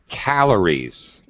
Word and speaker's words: calories: One other thing, Salvatore, calories. First syllable stress.